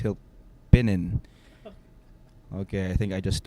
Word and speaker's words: Hilpinen: For the longest time, I thought that it was Tero Hilpipin. It's Hilpinin.